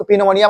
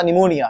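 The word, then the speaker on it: pneumonia: पलज मत बोल देना उसको एक निमोनिया होता है उसकी स्पेलिंग स्टार्ट होती है प से किससे स्टार्ट होता है प से उस पोनिया मत बोल देना उसको बोल निमोनिया क्या बोलना उसको देखो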